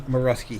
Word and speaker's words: Morawski: I believe he's You pronounce it Jamie Morawski. He reached out to me and I thank him for that to make sure I was pronouncing his name correctly.